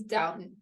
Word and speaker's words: Dotun: So Dotun's family loved her. Like, can I just tell you his name's Dotun? Dotun, thank you. Yeah. No, I appreciate that. I am a horrible mispronouncer of name.